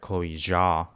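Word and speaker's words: Chloé Zhao: And that's, to me, that's credit to the director, Chloe Zhao.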